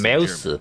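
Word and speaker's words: Maus: 메우스. 마우스라고 읽으면 안 됩니다. 메우스라고 읽어야 돼.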